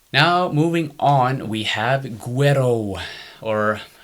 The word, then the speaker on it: Güero: Now, moving on, we have Güero, or Güero, as some people like to pronounce it.